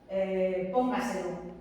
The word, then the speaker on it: póngaselo: Si vosotros tenéis, por ejemplo, una palabra como póngaselo, póngaselo, que uno diría, vale, esta es una palabra sobreesdrújula porque tiene 4 sílabas y la fuerza de voz está aquí, póngaselo, ¿sí?